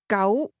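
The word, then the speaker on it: 九: The number nine gau carries a positive meaning as this word sounds exactly like the Cantonese word meaning long-lasting.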